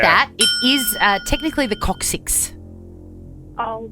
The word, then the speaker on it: coccyx: Apparently, it's very painful when you break your coccyx. Is that how you pronounce it? Yep. Coccyx, coccyx, coccyx.